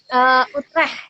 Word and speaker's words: Utrecht: Gimana sih bacanya? Utrecht ya? Utrecht, ya Utrecht.